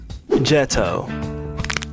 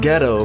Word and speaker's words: Geto: So his name really is pronounced Jeto. This whole time I've been saying ghetto, bro.